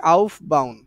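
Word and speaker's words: Aufbau: হচ্ছে আপ বাউন্ নীতিতে আপ বাউন্ নীতিতে এটার উচ্চারণ অনেকভাবে হয় হ্যাঁ আমরা শিখছি হচ্ছে আউফ বাউন্ড আচ্ছা আমি বইয়ে কিভাবে লেখা আছে মনে নাই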